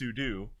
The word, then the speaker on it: sudo: A lot of people say sudo, but I for Sudafed? it's with the like a lot of people. It is sudo, but people say sudo.